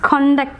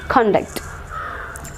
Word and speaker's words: conduct: if it is a noun should be marked on the first syllable so it is conduct certificate conduct is about to be conducted okay so conduct so the stress will be on the second syllable conduct conduct okay so